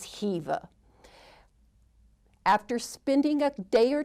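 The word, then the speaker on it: Khiva: visited which is Hiva I know it starts with the K but we were reminded regularly that the pronunciation is Hiva after spending a day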